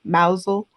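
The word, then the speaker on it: Mousehole: I was like listening to the audio book at the same time because I would not have known how to pronounce mousle.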